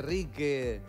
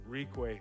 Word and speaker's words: Reque: Cuando llegaste a Uruguay decían Ricue, Rique, no, Enrique, de todo, me imagino. ¿Y cuál es la pronunciación correcta? Ricue. Ricue.